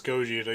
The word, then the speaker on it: Gogeta: I love Gogeta, but Trunks. Well, it's Gogeta. You said it wrong, so obviously the win goes to Trunks.